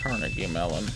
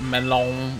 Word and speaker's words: Carnegie Mellon: been a fifth mountains apparently it is pronounced Carnegie Mellon it's not Malone or Mayo you mean correctly yes man